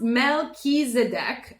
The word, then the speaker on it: Melchizedek: Pronounced Melchizedek, okay, is a high priest who's mentioned in the Bible's book of Genesis and many other sources too.